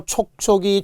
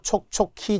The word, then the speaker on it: 촉촉이: 그 외에도 촉촉이 축축이 몸화에 의해서 오우의 차일 뿐이지 발음 잘해야 돼요. 촉촉히 젖은 눈동자 안 돼요. 축축히 젖은 손수건 안 돼요.